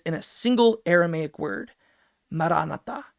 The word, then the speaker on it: Maranatha: But the way that that is going to come can be summarized in a single Aramaic word, Maranatha. How we usually pronounce it in English, Maranatha, right?